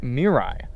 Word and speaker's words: Mirai: Toyota Mirai or Mirai depending on who or I you feel like pronouncing it I actually watched a Toyota video